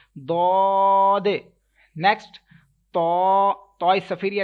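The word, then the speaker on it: ض: Then dod. Okay, this letter will be stretched equal to 3 seconds, as well as with thicker voice, and as well as you have to make echo end of this letter.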